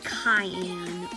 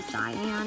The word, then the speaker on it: cyan: used to say like cyan would be cayenne which is actually cyan and i would use